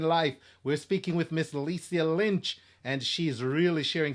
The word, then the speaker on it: Lisia: Am I pronouncing it right? Lisia Lynch. yeah, Okay, great. Lisia. Lisia.